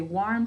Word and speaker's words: warm: Good, that says R, but if a W comes before R, this R usually says OR instead. So we saw that in this word because we say warm to spell it, but when we're talking, we say warm.